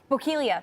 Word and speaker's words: Bokeelia: Is it Bokeelia? Bokeelia. Bokeelia. So there's a possible water spout near Bokeelia right now in the Charlotte Harbor.